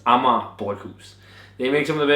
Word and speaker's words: Amager Bryghus: reviews so far and people can't pronounce it it's amama buus they make some of